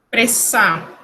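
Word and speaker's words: présent: Cada vez que usted vea una EN, eso es present, present, present. No es present, sino present.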